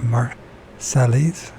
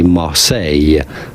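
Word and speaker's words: Marseille: how you pronounce it but you can say Marse Mar the typical French pronunciation Mar so what's the point of all the letters is mar what's the what do you need the L and the r for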